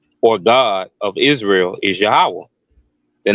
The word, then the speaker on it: Yahweh: as well so the the name of the most high God um is Yahweh you know that's how you pronounce his proper name and it concretely means